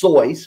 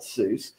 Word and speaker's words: Seuss: Seuss interestingly enough to answer that it is cool so dr. Seuss is actually pronounced sois but we all call it Seuss and doctor you know